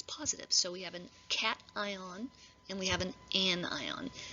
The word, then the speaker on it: cation: name for that of course and it's not acacian i know you want to pronounce it that way but it's actually called a cation cation and the non-metal becomes more negative and we